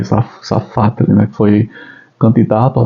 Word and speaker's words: Safatle: Aí eu vou para a fala do Vladimir Zafatli, acho que é assim que se pronuncia o nome dele, Zafatli, né, que foi candidato